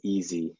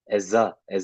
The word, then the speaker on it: Eze: Apparently it's actually pronounced Eze, Eza.